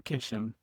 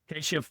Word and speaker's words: Keshov: Today I have Keshov, and he helped me pronounce that. Thank you. Galore Keshov. Keshov, damn it.